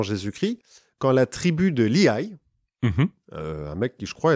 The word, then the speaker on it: Lehi: Non, mais parce que L-E-H-I, ça s'écrit. Ah, d'accord. Moi, je le prononce Lehi à l'américaine, quoi, tu vois.